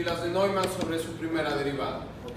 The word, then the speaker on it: Neumann: Neumann se pronuncia. Neumann.